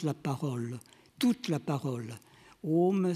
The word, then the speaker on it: Om: Om, c'est la contraction des sons A, le son A qui se prononce au fond de la gorge, le son U qui se prononce au niveau des lèvres, et puis une nasalisation qui fait intervenir les fosses nasales.